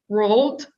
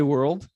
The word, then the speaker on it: world: me corrects me and always i talk rolled in my house you always say world in your house for